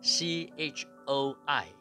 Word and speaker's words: Choi: Chua，或者是 CHOI Choi Mr.